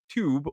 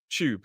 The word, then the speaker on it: tube: It's not tube or tube. It's tube. It's got that ch sound.